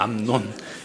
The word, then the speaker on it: 암논: 이 발음이 좀 조심해야 되는데 암논입니다. 암논.